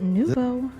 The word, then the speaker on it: nouveau: It's pronounced nouveau.